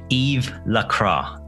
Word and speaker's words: Yves Lacroix: Patreons, Rajiv Rai and Yves Lacroix. That's how he said to pronounce his name.